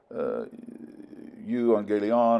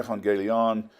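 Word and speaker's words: εὐαγγέλιον: Here we have U, or F, they would pronounce it in modern Greek today for pronunciation purposes. Euangelion or Evangelion, meaning good news.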